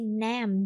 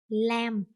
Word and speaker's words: Nam: You see Nam, but they don't say Nam. They will say lamb. Like they pronounce that in the wrong way, and it's like their habit to do that, and they have to correct that.